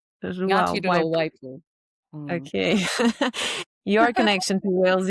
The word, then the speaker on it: Ngāti Ruawaipū: Paikea from Ngāti Rua Waipu. How do you say that? Ngāti Rua Waipu. Ngāti Rua Waipu.